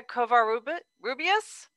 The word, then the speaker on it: Kovar-Rubias: I'm probably going to mispronounce your name, Kovar-Rubias.